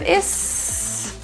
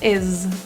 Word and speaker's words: is: The word is actually pronounced with a voiced Z sound rather than an S as it's spelled. So instead of is, add voicing or vibration is.